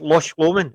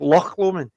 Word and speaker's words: Loch Lomond: this they read it it's lush woman it's not it's loch lomond it's it's the pronunciation